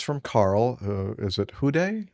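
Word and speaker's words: Houd: Hud? How do you pronounce his name? H O U D. Hood.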